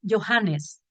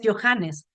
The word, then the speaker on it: Johannes: Y el problema de la H en alemán es que no se pronuncia como J, y a veces me citan a mí diciendo que yo digo Johannes, no es así.